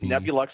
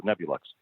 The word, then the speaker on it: Nebulux: So Nebulux, like Nebula, where stars are born, and the school looks like the Apple Store. It's very luxurious. So Nebulux.